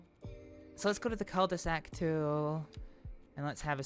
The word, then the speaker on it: cul-de-sac: Ah, you don't pronounce the L, so it's cul-de-sac. Cul-de-sac. Yeah, the British bastardization of it is pretty much cul-de-sac.